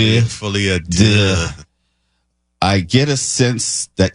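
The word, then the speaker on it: Folie à Deux: Tonight we're going to talk about Joker Folie de. That's the French pronunciation. Folie de.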